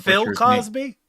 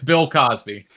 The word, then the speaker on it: Bill Cosby: Um you said Phil Cosby. Yeah, Phil Cosby. Okay. All right. Pronunciation's important on that first name. No, it's Bill Cosby.